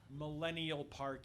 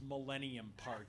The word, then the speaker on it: Millennium Park: Field it's Soldier Field it's not Millennial Park it's Millennium Park it's not go street